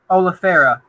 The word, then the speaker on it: oleifera: I mean, like, so I'm assuming that how do you pronounce it again? The one that you grow? Oleifera.